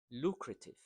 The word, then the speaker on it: lucrative: Number eight, lucrative. So this is second syllable that's stressed.